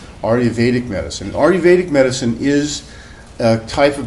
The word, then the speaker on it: Ayurvedic: wrong but it sounds a little bit like it's spelled re Vedic medicine Ayurvedic medicine is a type of medicine derived from